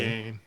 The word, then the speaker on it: Dwyane: It's spelled weird, isn't it? Yeah. It's duh Pronounced and then Wayne. Dwayne.